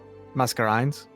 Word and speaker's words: Mascarenes: taking a step and I do not know how to pronounce this island's name the matter mess mess masquerade s cranes what are you looking at hang it over here mascarenes that's correct yes masquerades not the Seychelles